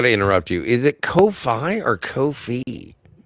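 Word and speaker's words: Ko-fi: I I either way I think it's supposed to be Kofi, but it but it's spelled like high five.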